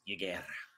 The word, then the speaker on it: Yigderra: Is the Y silent? I can't roll my R. Yigderra? No, Y is not. So Yig is a serpent god. Yig is definitely correct. I think the D is silent, so it's Yigderra.